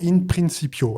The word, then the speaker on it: In Principio: mais qui s'appelle maintenant In Principio. Alors, c'est une prononciation à la française. N'allez pas me faire un procès, les latinistes, hein, c'est volontaire.